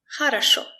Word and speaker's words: хорошо: If the letter O is not stressed, we usually pronounce it as A. Very short A. Молоко. Молоко. Хорошо.